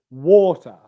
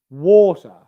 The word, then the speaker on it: water: what i've got here the stressed syllable is war water water water that syllable is louder it's higher in pitch and it lasts for longer water water any stressed syllable usually